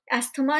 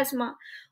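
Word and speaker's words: asthma: किसी भी तरह की एलर्जी है, एस्मा है, एस्मा एस्थमा नहीं होता है, करेक्ट प्रोनाउंसिएशन है एस्मा, और इम्यून सिस्टम में अगर कोई डिसऑर्डर है तो आप जाएंगे इम्यूनोलॉजिस्ट के पास, इम्यूनोलॉजिस्ट।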